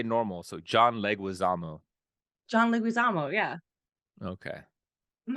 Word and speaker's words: Leguizamo: maybe it's not a layup how do you pronounce his name Michael put my retainer back in this is the time John Leguizamo say that again you say it oh that's